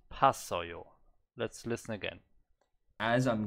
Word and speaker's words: 봤어요: But the pronunciation, he's not saying poa, he's just saying pa. There's no o, it's not poasoyo, it's not poasoyo, it's pasoyo.